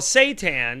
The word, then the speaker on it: seitan: and savior but uh it's called seitan it's not spelled like satan it's like s-a-i-t-a-n or